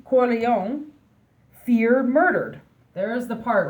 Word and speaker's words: Corleone: Yes, Vito, how do you pronounce his last name? Corleone, feared murdered.